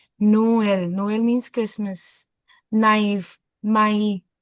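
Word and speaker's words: Noël: Both the vowels have to be have should be pronounced separately. Noel.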